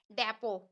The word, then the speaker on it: डेपो: तो डी को डा पढ़ा, ई को ए पढ़ा, पी को पा पढ़ा और ओ को ओ पढ़ा। टी को यहाँ पर नहीं पढ़ रहे हैं, टी साइलेंट है। तो ये इसीलिए मैंने यहाँ पर लिखवाया है, क्योंकि यहाँ पर टी को नहीं पढ़ा जाता है डेपो में।